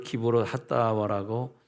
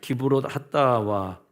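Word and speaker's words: קברות התאוה: 그래서 34절에 그곳 장소를 기브롯 핫다와라고 불렀는데 그 뜻이 뭐냐면 욕심을 낸 백성을 거기 장사했다라는 뜻입니다. 기브롯 핫다와 우리나라 말하고 히브리 말하고 이 혀의 구조가 다르기 때문에 좀 다르게 발음이 되는데 기브롯은 카바르에서 옵니다.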